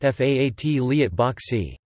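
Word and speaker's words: 法律博士: boshi in chinese and in cantonese it is pronounced faat liat bok c the jd in hong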